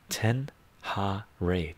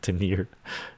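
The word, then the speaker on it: Ténéré: Cheryl is pronounced like ten ha ray. Ten ha ray. Tenir. I was saying Tenir.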